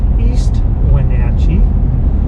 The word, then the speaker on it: East Wenatchee: The town I live in is pronounced East Wenatchee, and then we're going to go across the Columbia River, which separates East Wenatchee from Wenatchee.